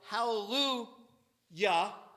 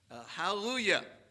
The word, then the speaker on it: hallelujah: Forget there's a J, just pronounce it like a Y.